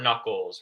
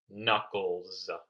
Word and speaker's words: knuckles: One knuckle, two knuckles. And here again, it's not knuckles, it's knuckles. So sometimes there is a silent K, but you will see a silent K if it's before the letter N.